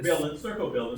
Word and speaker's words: stercobilin: The sterco, how do you pronounce it? The Stercobilin.